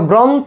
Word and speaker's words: গ্রন্থ: যে গ্রন্থে থামতেছে এখন দেখো শেষে কি একটা অ আছে না গ্রন্থ শেষে অ আছে অ থাকলে শেষে আমাদের ওকার হবে প্রভাত দেখো শুরুতে কি